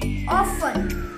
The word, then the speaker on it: often: it's CER Courier ofter you're pronouncing this word wrong it's often the is silent in this word it's often wedness day